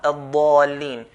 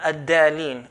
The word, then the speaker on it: الضَّالِينَ: First here, the dad here, we have to pronounce as a dad, الضَّالِينَ. And not ad-dalin.